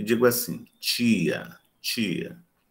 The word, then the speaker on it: tia: Quando eu vou pronunciar esse T diante de I, eu tenho um chiado, tia. Nós chamamos isso de palatalização. O I, ele contamina o T. Então, eu digo tia, tia, palatalizo.